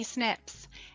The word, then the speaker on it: SNP: You may wonder, what are DNA SNPs and how do they help us find our ancestors? The acronym SNP stands for Single Nucleotide Polymorphism, and we pronounce this as SNP when talking about DNA.